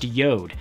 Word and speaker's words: JORD: yo'd watches it spelled like jord but it's pronounced Yoda that totally threw me at first but I